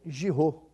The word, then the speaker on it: Giroux: Eu espero não errar a pronúncia. Giraud, ele que é o delegado regional da ABTP. Acertei? Acertou, perfeito. É francês mesmo? Isso, a descendência francesa. Giraud, você falou a pronúncia corretíssima.